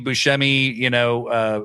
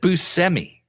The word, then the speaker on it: Buscemi: I'm like the Steve Buscemi, meme, like, hello, fellow kids. Also, by the way, Steve Buscemi hosts this Apple podcast about people who like famous thieves and stuff. And he said Buscemi.